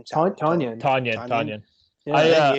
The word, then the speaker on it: Tonyan: it I'll, Towan or Towan? Is that how you pronounce his name? Tonyan.